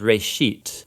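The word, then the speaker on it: בראשית: it's called Genesis Genesis comes from a Hebrew word uh it's pronounced RIT uh and it just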